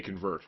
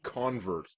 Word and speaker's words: convert: potentially strong card right you convert or convert normally you would say convert but in the religious context is a priest a convert is actually a way you would pronounce it if you're talking about someone who was converted to their religion so you made a